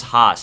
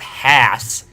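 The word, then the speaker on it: Haas: like I'm an American I know how to pronounce Hoss it's not Hass Hass the half no it's not that I'm sorry nope we're about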